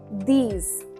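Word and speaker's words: dix: D-I-X, these.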